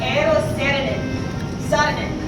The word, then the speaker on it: Eero Saarinen: So this arch was designed in 1947 by a Finnish American architect named Eero Saarinen, or as his English name is pronounced Eero Saarinen.